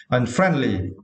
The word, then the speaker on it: unfriendly: Yeah, and for this word, we need to stress the second syllable, right? Friend. Okay, unfriendly.